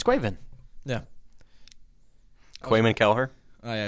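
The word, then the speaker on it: Caoimhín: Try and pronounce it. It's Quaven.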